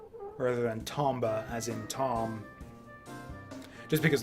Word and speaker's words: Tomba: I always said Tomba. Like Tomba, as in tome. Rather than Tomba, as in Tom.